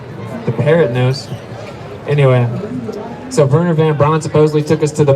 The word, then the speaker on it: Werner von Braun: So an SS officer of the Nazi regime by the name of Werner von Braun, it's spelled with a W, you pronounce V because they're German.